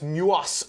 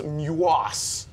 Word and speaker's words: MUOS: This was the third of the Mobile User Objective System satellites, MUOS. He pronounced it much better than I did. Every time I see it, it sounds like mucus to me.